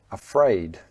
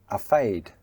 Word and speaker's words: afraid: And another common mispronunciation is the FR sound "fr" "afraid". Do you say "a fade"? So don't drop the R. Make sure that you pronounce that together with the F.